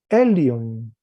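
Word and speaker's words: ἔλυον: Entonces, la desinencia es on, la raíz lu, y el aumento tiene la fuerza en la primera sílaba, igual el acento y el espíritu y el acento. Entonces se lee elion, igual que la primera.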